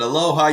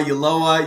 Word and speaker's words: Ulloa: Sometimes people pronounce it aloha, Ulloa.